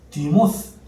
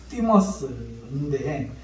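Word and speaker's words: θυμός: 분낸다 하는 이 단어는요, 헬라어로 디모스, 원래는 발음이 뜨 발음이 띠모스인데 이 원어가 띠오에서 시작된 거예요.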